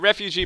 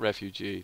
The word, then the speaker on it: refuge: Yeah, refugee point. Or refuge. Not refugee.